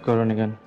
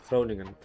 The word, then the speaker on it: Groningen: Yeah, Groningen. Groningen. Groningen, okay. Yeah, it's always nice to pronounce the K, the G, in Dutch.